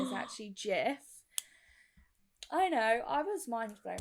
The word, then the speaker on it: GIF: so we'll go with gif i also say gif and i don't plan on changing it but the proper pronunciation is actually jeff i know i was mindful when i found